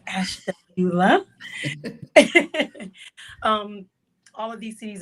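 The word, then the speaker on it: Ashtabula: city called Ash Tula know if you can pronounce that but it's ashula um all of these cities are in Ohio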